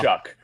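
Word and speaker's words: Shough: one of them, that their last name spelling doesn't remotely match how you say it out loud. That pisses me off. Because your name is Show or Shuff or whatever the hell you want to say. It is not Shaw. Shuck.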